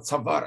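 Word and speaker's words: צואר: слово "цавар" — обратите внимание — пишется с непроизносимым алефом, да, "цаварон" — это ошейник, да, " хишил", "кишалон" — это неудача, " хишил коах".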